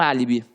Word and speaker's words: álibi: E quando você fala que você tem um álibi, você tem ali, ó, a antepenúltima sílaba forte. Por isso que ficou líbi. Álibi, álibi. E viu que o A ficou forte? Então, por isso tem acento.